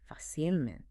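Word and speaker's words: fácilmente: So, it's adverb form facil easily also keeps the accent on the a. Facilment.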